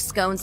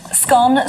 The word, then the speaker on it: scone: A 2016 survey found that 51% of Britons pronounce it to rhyme with gone, whereas 42% pronounce it to rhyme with bone.